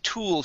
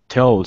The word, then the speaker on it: tool: is tool shed so we want to pronounce the L reach up and touch the top of your mouth with your tongue tool tool shed toll shed okay instead of toll it's to Tool The Tool Shed the T shed there